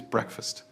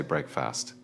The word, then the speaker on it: breakfast: Next is breakfast. Do not say breakfast. It is quick and crisp. Breakfast.